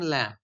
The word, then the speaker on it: Lamb: অফ the surname ল্যাম্ব, এবারে স্পেলিংটা কিন্তু LAMB, কিন্তু তোমরা এটাকে ল্যাম্ব বলবে না, মানে you will not pronounce it with the stress on the last A alphabet, ল্যাম্ব বলবে না, বিটা কিন্তু silent, so you have to সে ল্যাম্ব, ল্যাম্ব নট ল্যাম্ব।